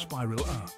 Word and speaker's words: spirilla: prepare to be amazed by the spiral-shaped spirilla pronounced spiral a these bacteria look like tiny cork screws and